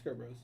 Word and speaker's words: Brosz: It's Kurt Bros. Yeah, bros. Great. Bennett. Kurt Bros. It's BROSZ.